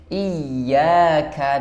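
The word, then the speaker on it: إياك: bukan iyaka kalau iyaka itu berarti memanjangkan kasrh alifnya di sana Hamzah kasrahnya iaka Nah itu memanjangkan i-nya bukan menarik huruf y-nya kalau di sini ditarik huruf y-nya iyaka itu yang tepat iyaka nabudu na huruf na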